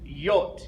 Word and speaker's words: J: what we have is y the letter J is pronounced y the letter k a